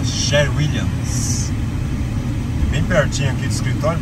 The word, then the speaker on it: Sherwin-Williams: ali na a série William sheridan tem Brasil hein esse lá pronúncia correta sherwin-williams bem pertinho aqui escritório